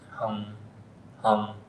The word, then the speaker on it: hum: is sometimes it's spelled h u m, sometimes it's spelled h u n g, hum hum and uh Kim asked about, you know, when